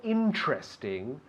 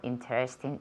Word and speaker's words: interesting: Okay, has dicho interesting. No. Interesting. ¿Cómo se dice? Interesting. Tiene 3 sílabas.